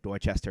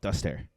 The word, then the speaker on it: Dorchester: exact same W and Dorchester is spelled the same way but we don't call it duster um that was a